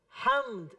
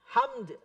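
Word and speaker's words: حمد: akbar Allahu akbar walillahil ham ham bukan HAM kalau HAM doang itu maknanya berubah Hai segala demam panas buat Allah tapi kalau ada daunnya segala puji bagi Allah itu start apa namanya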